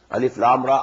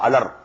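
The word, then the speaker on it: الر: These are pronounced separately, and so they are the broken into pieces. Not pronounced as Alif Lam Mim Alam, no. Alif Lam Mim. Alif Lam Ra Alar, no.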